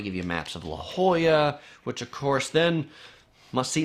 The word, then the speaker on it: La Jolla: as La Jolla but because San Diego was originally part of Mexico a lot of the names of places are Spanish names La Jolla means the